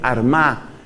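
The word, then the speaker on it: Armagh: Patricio, la sede de San Patricio fue Armá, que se escribe con GH al final.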